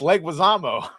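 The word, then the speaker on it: Leguizamo: But I hate John Leguisamo now. How did you pronounce it? It's It's pronounced Reuters and that one is pronounced Leguisamo. Leguisamo.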